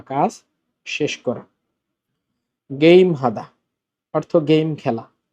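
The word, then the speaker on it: 게임: বা কাজ শেষ করা গেইম হাদা অর্থ গেম খেলা এটার উচ্চারণ কিন্তু গেইম হবে আবার খেম বইলেন না কারণ এটা ইংরেজি ওয়ার্ড এজন্য পরিবর্তন হবে না প্রথম বর্ণ পরিবর্তন হবে না।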